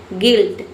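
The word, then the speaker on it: guilt: गिल्ट जी का हो गया ग इ वाई का हो गया इ एल का हो गया आधा ल और टी का हो गया पूरा ट।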